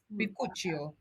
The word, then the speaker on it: bakuchiol: Bakuchiol. That sounds Italiano. It took a long time to figure out how to pronounce it properly.